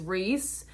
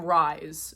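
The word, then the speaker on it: Rhys: His name is Reese, but it's spelled R-H-Y-S, which I've never met someone who spells Reese like that. So I was calling him Rise for a little bit until they explained it in the book.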